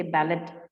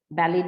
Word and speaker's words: ballet: use it in english you have to use the same pronunciation that is there in french so if all of you know ballet they say they don't say ballad ballet dance you remember yes